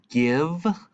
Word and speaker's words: give: little bit okay so we've got a short eye here in this word give and the only thing